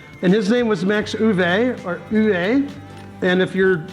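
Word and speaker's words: Euwe: Now, of course, there are many different ways to pronounce Uwe. There's U, Yui, but for this video, we're going to stick with Uwe. There is a light emphasis on the first syllable of his last name, Max Uwe.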